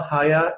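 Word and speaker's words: Haier: the way it comes from the german liebherr because higher used to be a fridge manufacturer and he pairs a german fridge manufacturer a second syllabus is how higher in chinese of the chinese pronunciation and they uh and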